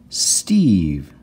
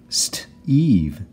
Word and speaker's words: Steve: magicky at the end it makes this e say its name and we've got Eve St Eve Steve here's a common